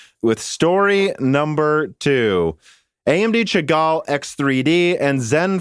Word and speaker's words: Chagall: chagall is expected or i guess it's actually pronounced chagall it's a french word is expected to launch by november 2021.